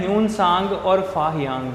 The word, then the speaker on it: Tsang: कि Chinese Pilgrim Hyun सांग जो है वो हर्षा के टाइम पे आया है। H से ह्यून, H से हर्षा, याद रखना है, ठीक है। ह्यून सांग, TSANG, T साइलेंट रहेगा, ठीक है।